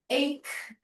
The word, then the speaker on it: ache: Told the patient that if the ache 这个字啊，它是可的发音，这个知道吗？